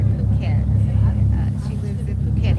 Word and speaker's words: Phuket: Okay, our pronunciation, we're going to get it right. Phuket.